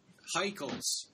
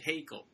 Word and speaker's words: Haeckel: movie they pronounce it Hegel right I think it's supposed to be German and I think that